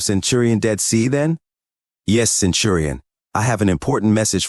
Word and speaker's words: Centurion: The recruit imposter said simply, "Nelson, Centurion." He corrected his error, but it's pronounced Centurion, not this Centurion idiocy.